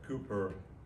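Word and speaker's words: Cowper: is a bloody religion william copper cooper as it's pronounced said there is a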